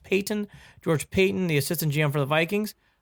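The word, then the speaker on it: Paton: For people who are wondering, where's this George Patton? I think it's pronounced Payton.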